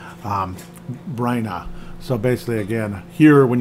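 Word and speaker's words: Byrna: and in that cave is the cane of Byron. I can never say it right. Bryna.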